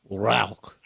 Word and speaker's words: Rauch: okay um so the if you pronounce it correctly in german it's a rock yeah close very close